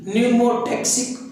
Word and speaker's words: pneumotaxic: Of neurons and Numa, P silent है यहाँ पर, PNEUMOTAXIC, न्यूमोटैक्सिक group of neurons.